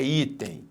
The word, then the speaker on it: item: Qual é a sílaba tônica em item? É item ou é item? É item. Então, aqui a sílaba tônica está aqui. Então, nós temos uma paroxítona. Beleza, temos uma paroxítona.